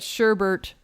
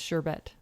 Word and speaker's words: sherbet: that one up but sherbert is not a word because there's not two hours in it it's sherbet okay i always say